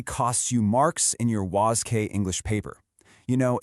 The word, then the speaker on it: WASSCE: Okay, we are looking closely at the WCE English exam which is officially pronounced was.